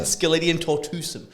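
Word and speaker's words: Sceletium tortuosum: Well, that's how you pronounce it. Skeletium tortuosum.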